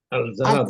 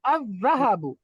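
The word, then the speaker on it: الذَّهَبُ: আল জাহাবু আজাহবু আজাহাবু আযযাহাবু। লাম উচ্চারণ হবে না, লাম সাইলেন্ট।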